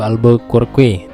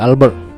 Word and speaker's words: Albuquerque: ya Alfonso de Albuquerque Kalau tulisannya di situ Albuquerque Tapi bacanya Alfonso De Albert jadi Alfonso ini sampai